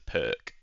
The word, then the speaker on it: Pirc: the basis of the pier defense also known as the perk but I believe it's properly pronounced Pier don't ask me why there he goes Knight